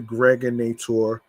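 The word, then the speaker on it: Gregnator: I'm your man, aka the Greg Nator. Rhymes with now or later.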